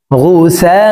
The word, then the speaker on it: غثاء: ফাজাআলাহু গুসাআন আহওয়া, গুসা এই সাকে 4 আলিফ টেনে পড়তে হবে, কারণ মদের হরফের উপরে মোটা চিহ্ন বামে হামজা, মধ্যে মুত্তাসিল 4 আলিফ টানিয়া পড়িতে হয়। গুসাআন আহওয়া فجعله غثاء أحوى